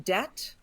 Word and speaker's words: debt: The B in debt was a gift given to us by some